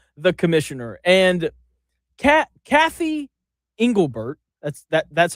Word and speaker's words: Engelbert: All right, let's let's start let's start with the the commissioner and Cat Cathy Engelbert, that's that's how you pronounce it.